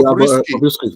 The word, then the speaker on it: Bobrisky: Please let me pronounce his name correctly. Is it Bobrisky or Bobrisky? Bobrisky.